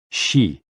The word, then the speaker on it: xi: with the spleen and XI pronounced like she which connects the whole